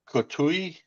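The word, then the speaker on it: Couteau: Like Jacqu Kustoau without the S.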